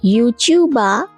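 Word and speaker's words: ユーチューバー: আচ্ছা, ইউটিউবারকে জাপানি উচ্চারণে ইউচিউবা বলা হবে।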